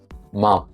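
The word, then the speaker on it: 마: Well, bring your lips together gently and let the sound pass through your nose while your lips stay closed. Your your vocal cord should vibrate in like in other terms is voiced. It should be nasal and bilabial and voiced.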